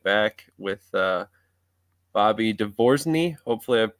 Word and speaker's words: DeVo: And I always say phonetically, it's divorce me without the me.